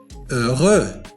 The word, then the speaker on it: heureux: heureux وتعني سعيد. heureux. إذا لاحظتم في هذه الكلمة حرف H لم ينطق لأنه من بين الحروف